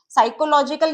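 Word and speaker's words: psychological: साइकोलॉजिकल ये पी की sound silent है, इसे हम अवॉइड करेंगे।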